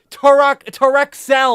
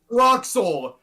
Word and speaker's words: Troxel: to Torexel or whatever the fuck. All right, Abe. all right. So first off, you butchered it so bad. Yes. Troxel. It's Troxel. Why were you saying it was Torexel?